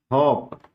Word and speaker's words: hop: जैसे है हॉप, हॉप का मतलब होता है, इसका उच्चारण होगा हॉप, इसका मतलब होता है उछलना। होप का माने आशा करना, हॉप मीन्स उछलना।